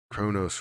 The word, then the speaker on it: Cronos: bunch of times again Kronos rhymes with oh no's coincidence I think not